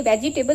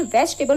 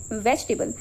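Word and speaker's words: vegetable: अब आप इसे क्या प्रोनाउंस करते हैं? वेजिटेबल। सो इट is very wrong. ये वेजिटेबल नहीं होता। ये वेजिटेबल होता है।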